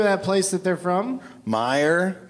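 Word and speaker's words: Meijer: place that they're from Meyer that's how you pronounce it yeah that's not how it's spelled Ivy had a lot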